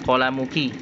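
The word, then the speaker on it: قلمكِ: Ya, itu keliru ya, tulisannya seharusnya qalamuki. Jadi ka itu dhamir kaf itu dibacanya ki bukan ka ya, karena untuk perempuan, untuk umi, untuk muannas.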